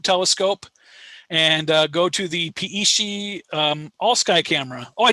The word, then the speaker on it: Peishi: And we're pretty sure it's pronounced Peishi, but we have yet to have that confirmed from a Apache.